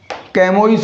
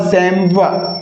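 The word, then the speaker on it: chamois: हिरण की एक जाति का नाम है, और इसका करेक्ट प्रोनाउंसिएशन क्या हो जाएगा? क्या कैमोइस हो जाएगा? क्या चैमोइस हो जाएगा?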